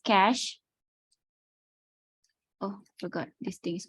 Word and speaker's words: cache: discuss about cache memory the pronunciation is cash oh forgot this thing